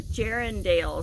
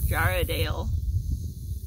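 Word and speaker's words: Jarrahdale: says this is a gerundail squash that's really fun jar what is it jaradale oh I said it wrong jaradale it's like a turquoisey yeah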